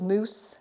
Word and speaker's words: mousse: tub of the chocolate mousse I love it it's spelled mousse like a mous the animal chocolate mousse M light